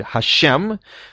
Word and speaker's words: Hashem: 4-letter name of God, which Jews pronounce as Adonai in the course of blessings and when reciting the Torah. and in other circumstances generally pronounce it as the word Hashem, which is a very well-known word in certain circles.